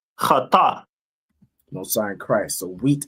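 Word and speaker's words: חיטה: The Hebrew word for wheat is pronounced in Hebrew as chata.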